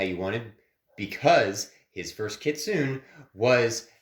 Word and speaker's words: kitsune: I know how to pronounce those. I If guess it wasn't in Naruto, I don't. Wait, kitsunes were in Naruto, weren't they?